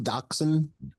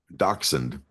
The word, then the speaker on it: Dachshund: Dachshund. Dachshund.